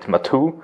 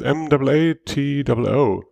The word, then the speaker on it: Matu: The name of the product is Matu. Is that the proper pronunciation? Yeah, exactly. So in German, we call it Matu.